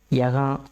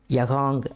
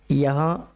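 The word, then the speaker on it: यहाँ: சைலெண்ட்டா play ஆகும் சரிங்களா கஹா யகா வகா நீங்க அழுத்தி உச்சரிக்கணும்னு அவசியம் இல்லை கஹாங் யகாங் அப்படின்னு சொல்லணும்னு அவசியமில்லை கஹா யஹா வஹா அந்த இங்கங்கிறது சைலண்டா இருக்கணும்.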